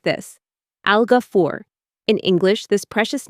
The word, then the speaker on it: Al-Ghafoor: When we say this name, we say it like this, Algafur.